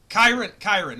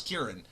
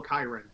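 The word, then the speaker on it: Kyren: Kyron. Okay, because people have been giving me crap about how I pronounce his first name. I always thought it was Kieran, so it's Kyron.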